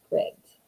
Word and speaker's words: Scribd: I think we figured out that I've been saying it wrong. I think it is Scribd.